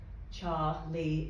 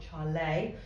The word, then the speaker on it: Charlie: also obviously know that char lee is how it's pronounced not charlay um but that is